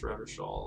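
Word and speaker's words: Revachol: It's pronounced Revelshall, or Orange is okay.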